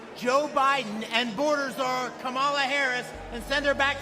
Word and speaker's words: Kamala: It's Kamala, not Kamala.